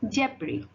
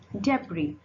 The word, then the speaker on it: debris: Debris. Debris.